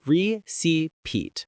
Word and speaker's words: receipt: Receipt. Silent P. Think of receipt as recet. The silent P is like a silent tip on your bill. You don't say it, but it's there.